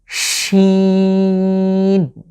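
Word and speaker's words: ش: শিন, এই শিন উচ্চারণে আমরা ইংরেজিতে SH মিলে যেটা হয় স, কিংবা আমাদের বাংলায় যে স ব্যবহৃত হয় ঠিক সেভাবে আমরা উচ্চারণ করব এবং আপনারা দেখছেন একটা হিস হিস আওয়াজ আসছে, শিন। সিন টোটালি আমাদের ইংরেজির যে এস আছে অনেকটা সেভাবে, আর শিন হলো SH স, ঠিক সেভাবে আমরা উচ্চারণের চেষ্টা করব।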